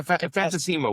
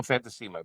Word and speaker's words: Fantasima: Jane, Queen Crab, Fantas Fantasy, forgive me for pronouncing it Yeah. Fantima. We we we call Fantimma, but Yeah.